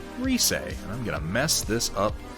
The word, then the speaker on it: Rise: character christmas gift confirmed her name is pronounced reese i'm gonna mess this